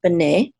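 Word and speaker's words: בני: of plural sons of banay okay and the accent is on the second syllable because this is a check mark right here and then we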